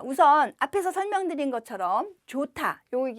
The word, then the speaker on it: 좋다: 우선 앞에서 설명드린 것처럼 좋다요 이제 길게 발음하는 거예요 좋다 좋아하다 이렇게 발음하시면 되고요 좋다는 형용사 좋아하다는 동사